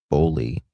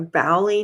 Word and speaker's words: Boley: Am I pronouncing that right? That's how I've been saying it. A Bowley, maybe? Let me make sure. I hate mispronouncing something. Missing Johnathan Everett Boley discussion. Boley. Yeah. Okay, we're pronouncing it right. Boley.